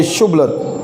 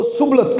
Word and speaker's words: شبلت: اگر وہ جواب دیتا نہیں تو وہ اسے کہتے شبلت تو بول, وہ شبلت تو بول, تو وہ سبلت کہتا, کیونکہ اس سے اس کا صحیح تلفظ نہیں ہو سکتا تھا.